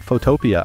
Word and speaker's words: Photopea: I know it's spelled like photo np, but people call it Photoia.